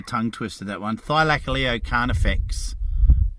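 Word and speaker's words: Thylacoleo carnifex: twist to that one thigh like a leo can't affects is the proper pronunciation of it oh yes i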